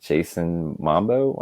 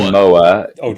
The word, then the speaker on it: Momoa: to is, of course, Jack Black with Jason Mambo. How do you say his last name? Jason Momoa.